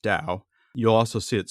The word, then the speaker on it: Tao: does doubtaging mean so t-a-o it's pronounced Dao you'll also see it